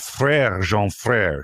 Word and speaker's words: Frerejean Frere: And you're the co-founder of Frerejean Frere Champagne.